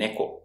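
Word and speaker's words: 猫: If it seems to much, just memorize the sound of i-NU (dog) and NE-ko (cat) The pitch accent of iNU (dog) is Low High. and NEko is the opposite, it's HIgh Low.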